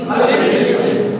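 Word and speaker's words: ألف: এই হরফটার নাম কি আলিফ আলিফ আলিফ আলিফ আলিফ আলিফ আলিফ কোন টান নেই সুন্দর করে উচ্চার করতে হবে কেমন আলিফ আলিফ আলিফ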